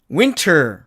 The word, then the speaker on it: winter: 그 다음에 K번 이 단어의 사전식 발음은 당연히 winter 이렇게 됩니다. 겨울이란 뜻이죠. 그런데 이 경우도 역시 은트의 꼴이 되니까 트가 사라져갖고 이렇게 winner처럼 이렇게 발음을 합니다.